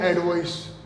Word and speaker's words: advice: okay friends, यहां जो pronunciation है इसको तो बोलते हैं एडवाइस, जबकि नीचे वाला जो वर्ड है वो कहलाता है एडवाइज, जबकि ये ऊपर वाला